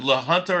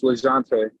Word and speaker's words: Lejante: Is it La Junta or La Junta Costa? It's Lejante.